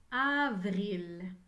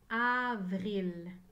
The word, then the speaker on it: avril: v r i elle il y a cinq lettres dans le mois d'avril avril dans avril j'entends chaque lettre mais attention la lettre vie et la lettre r sont collés ensemble vous avril maintenant écrivait